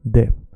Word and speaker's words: det: mycket, you say mycket, you don't say det, you say det. Doesn't matter what other people told you. It's okay, we understand you. Keep saying it wrong. We love you because you exist. Sure, but the proper way is like this. Mycket, det.